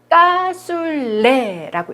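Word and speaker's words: cassoulet: 이거는 까술레라고 읽어요.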